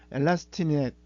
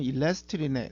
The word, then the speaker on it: 엘라스틱 넷: 엘라스틱 넷, 엘라스틱 넷 또는 일라스틱 넷, 뭐 이렇게 발음이 한국에서는 외래어다 보니까 혼용되어 있는데요.